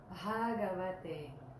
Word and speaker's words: Bhagavate: the Sanskrit alphabet, and it's pronounced with a little puff of air, like this. Ba, ba, ba, ba, ba. So it's Bhagavate.